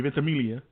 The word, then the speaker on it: Ventimiglia: Excuse me, Ventimiglia. Because the G is silent, so get rid of it.